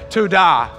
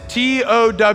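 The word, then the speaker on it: תודה: word for praise and I'm saying it as tada and it's towd aah and it has several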